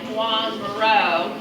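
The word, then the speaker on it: Joan Miró: that wonderful Spanish accent if you just kind of say something like Juan Maro you're doing fine um he was from Spain and of course in Spain that's how they would pronounce his name now look at that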